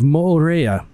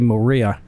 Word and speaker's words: Mo'orea: And this one's going to be for the island of Moorea. And I had to look at how to pronounce that. I keep wanting to say Moorea, but it's Moorea if you say it correctly, and I'll probably say